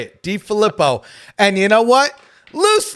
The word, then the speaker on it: DeFilippo: He even said, DeFilippo, am I saying it right? You say it, DeFilippo.